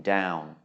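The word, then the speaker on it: ดาว: the initial consonant there Dow and Yao are both mid tone because they have no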